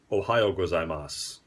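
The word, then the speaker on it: おはようございます: so in the morning it's ohayo gozaimasu oh oh hi yo so like the state in America and then gozaimasu because I mas makes pretty much everything formal more or less and you say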